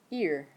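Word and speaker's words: ihr: in a second and that is ear like what's on your head okay everybody try that one ear then we have you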